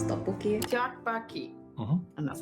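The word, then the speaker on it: 떡볶이: Ever since I saw that video of that lovely couple trying to pronounce tteokbokki, Tteokbokki.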